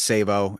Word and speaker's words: Sabo: it's a long story my last name is sabo and you pronounce it like that like save a hoe so since i was